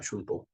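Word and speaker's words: 春闘: 일본 발음은 슌또입니다. 슌또.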